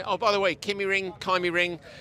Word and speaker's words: KymiRing: Tapainen, I think, is the correct Finnish pronunciation. Oh, by the way, Kymiring, it's a discussion, it's ongoing. We're going to ask more Finnish people. Everybody we've spoken to says Kymiring.